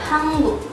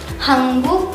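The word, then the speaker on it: 한국: Lanjut yang nomor 2 ini ada Hanguk. Hanguk itu Korea. Nah, negara Korea itu bahasa Koreanya Hanguk. Jadi Hanguk plus sarang jadi Hanguk sarang. Hanguk sarang. Tulisannya HANGUK tapi dibacanya jadi Hanguk.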